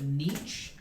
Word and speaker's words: Nietzsche: of life okay yeah i read it somewhere niche or something okay high school all right yeah they had us read that you know lock and everything i said did you pronounce it nietzsche did you read it somewhere friedrich nietzsche i